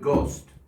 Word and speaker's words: ghost: the middle English word, ghost, g, but it come from Holland. He spelled it with a silent H.